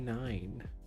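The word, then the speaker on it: Nein: Called The Mighty Nine, but 9 is spelled like N-E-I-N, like the German no, like 9.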